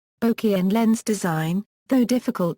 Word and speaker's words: bokeh: speakers, saying it is properly pronounced with bo as in bone and k as in Kenneth, with equal stress on either syllable.